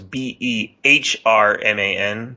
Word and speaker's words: Behrman: That's Behrman. The H is silent unless you pronounce it Behrman.